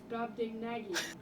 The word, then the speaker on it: Brobdingnagian: Brobdingnagian. Thanks, Google. Brobdingnagian. I said it right.